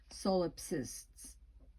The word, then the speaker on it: solipsists: solopists of contemporary liberalism that word is solipsists i love william buckley